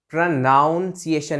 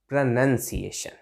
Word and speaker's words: pronunciation: चीज करनी है कि देखिए यहां तो नाउन है, लेकिन यहां नाउन नहीं, नन है। यहां नन आ रहा है, तो हम क्या बोलेंगे? प्रोनाउंसिएशन नहीं, प्रोनंसिएशन, प्रोनंसिएशन, ऐसे करके, ठीक है।